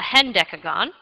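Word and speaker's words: hendecagon: undecagon and I've also come across this name it's spelled h n d e c a g o n a hend deagon 12 is a do deagon 13 is a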